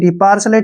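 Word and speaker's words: partial: है ध्यान रखना है यहां पर टी आई का उच्चारण श होगा पार्सल पार्शल होता है पक्षपात किसी के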